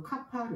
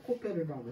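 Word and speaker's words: כפר: 역청을 정확하게 뭐냐면 히브리어로 카파르 그래요 뭐 그게 발음이 이제 각자 달라는데 뭐 카파를 라해도 되고 뭐 코페르라고 해든 근데 다 똑같아요 근데 이게 영어로는 그게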